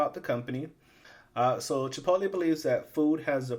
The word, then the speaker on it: Chipotle: to pronounce is Chipotle and that's how you pronounce it Chipotle by the way and here they just have a list of some of the ingredients that they use so Chipotle chili corn M oflow white cheddar cheese cultures